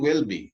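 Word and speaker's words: Welby: The Guardian The Guardian comm UK and Justin will be that's how you pronounce it is the most very reverent Justin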